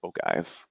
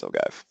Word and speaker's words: ogive: comes up by default which is I believe pronounced ogive or ogive ogive I believe it's ogive I think anyway um it's a it's a